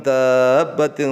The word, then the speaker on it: دَابَّةٍ: Wa ma min dabbatin, jadi bacanya dab gitu ya. Wa ma min dabbatin fil ardi illa 'ala Allahi rizquha wa ya'lamu mustaqarraha wa mustawda'aha kullun fi kitabim mubin.